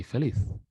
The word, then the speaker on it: feliz: pronounce this feliz navidad in spain of course you would say felith now with that now